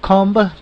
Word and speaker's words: comb: Luego tenemos el verbo comb, peinarse. Comb, como podemos escuchar, pronunciamos la última letra, que es la letra B, B, como se pronunciaba, ¿verdad? B.